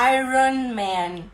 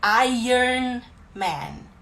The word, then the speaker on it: Iron Man: Então não é Iron Man, é Iron Man.